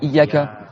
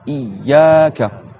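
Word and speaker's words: إياك: Donc c'est pas iyyaka. C'est pas non plus iyyaka sans faire la shadda, et c'est pas non plus iyyaka. Non, c'est iyyaka. Donc dites iyyaka.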